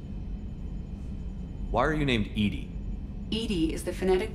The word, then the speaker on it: EDI: is a jar why are you named Edie Edie is the is the pronunciation of EDI that is an acronym for